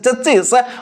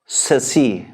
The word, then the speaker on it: chassis: कहउछन्ती सेटा भूल अछि वी शुड नॉट से दिस इज चेसिस और चेसिस बट are correct pronunciation टा cone this is सेसी this is सेसी okay